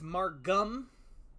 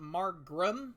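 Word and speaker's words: Margam: faster traffic um yes I do know it is margum not Mark grum I have always read it with an R until I heard it pronounced and that was in the middle of creating this Trilogy so spelled I will be pronouncing margrim correctly uh from here on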